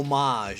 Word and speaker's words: homage: design it's it's a homage basically is a homage or homage how do you pronounce it oh homage is the right way to say it I've